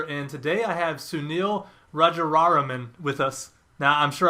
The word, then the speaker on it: Rajaraman: today I have Sunil Raja raraman with us now I'm sure I butchered your last name is that right you know close enough it's a long one Roger Ramen there we go thank you uh so